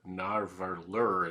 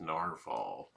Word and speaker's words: Nahvalur: changed the spelling of their name um to narvallur is what it looks like but it's still supposed to be pronounced narval and gold spot pens and I I started